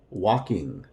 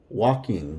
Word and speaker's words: walking: same thing here with walking walking the L is silent la morra playing playing